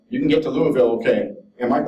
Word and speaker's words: Louisville: this is a year of celebration culminating in Louisville he pronounced wrong as Louisville not Louisville in Kentucky in July with our